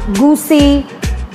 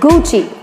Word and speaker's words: Gucci: and leather goods it is Gucci many people pronounce it as goosey goosey but the correct one is Gucci its boot cheap Gucci here comes the French